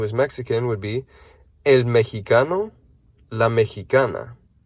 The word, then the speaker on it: mexicano: mexican would be el mexicano la mexicana notice that this x is pronounced like an h in english or a j in spanish okay we have puerto